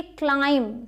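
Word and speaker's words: climb: plumber नहीं Plummer प्ल म र प्लमर ठीक है प्लमर इसी तरीके से ये क्लाइंब सी एल आई एम बी क्लाइंब means चढ़ना बी नहीं बोलेंगे क्लाइंब नहीं बोलना क्लाइंब क्लियर हुआ आपके लिए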